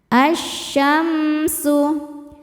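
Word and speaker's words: ٱلشَّمْسُ: Cara bacanya lam tidak dibaca, masukkan. Asyamsu.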